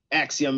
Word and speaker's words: Axiom: Axiom, yeah.